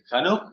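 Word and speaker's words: חנוך: ¿Enoch era el nombre? Hanok se pronuncia.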